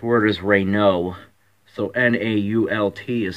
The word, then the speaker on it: Renault: not the correct word the correct word is Rey no so na ult is silent but when I was a when I